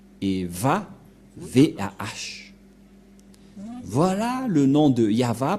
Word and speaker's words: Yahvah: de de yava et la prononciation de Y h selon les Hébreux c'est yava et personne ne peut